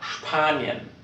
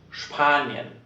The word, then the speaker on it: Spanien: S und P at the beginning of a word. Then this combination is pronounced SCH.